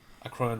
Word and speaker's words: Akroan: So yeah, Akroan War. Okay. As in the Akroan horse.